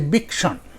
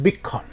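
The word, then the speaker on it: বীক্ষণ: So, in Bengali, we say bikshan or bikhan. In Bengali pronunciation, it is bikhan.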